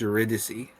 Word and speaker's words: Eurydice: I only recently learned that it's pronounced Eurydice. Like Yeah. Orpheus and Eurydice. I was like, what? It's got the word dice in it.